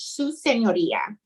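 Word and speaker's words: su señoría: yes s you know with the tilty o r i a so almost like senor but then you add the ear at the end so sue is the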